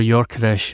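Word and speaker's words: Gyökeres: Striker the the sporting club the Portugal Striker yores that and I got that right yeah I think I think so Victor yores is is I think the the pronunciation the Swedish Striker um at sporting um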